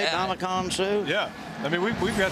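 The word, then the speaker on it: Ndamukong Suh: Damakong Su?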